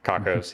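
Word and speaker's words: Cockos: Why did you go with the name Cocos, or is it Cook? I don't know how to pronounce it. Cocos, yeah. Okay.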